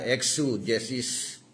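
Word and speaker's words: exegesis: Yung pangalawang blanko exesis o yung ating pronunciation niya na exu jesis an po ex g e s i s.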